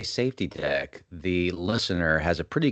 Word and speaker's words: SafTDek: further Nathan how do you spell safety deck safety deck it is s f TDE K so it we get it pronounced in safy deck sometimes and some other things um safety deck